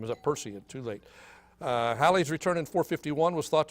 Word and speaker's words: Halley: And Halley was the proper pronunciation.